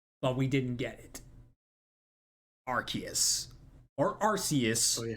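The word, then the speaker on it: Arceus: a game called Legends Archus. They called it Archus in the game title. So people are going haywire for a Archus mis uh pronunciation, but we already got it three years ago.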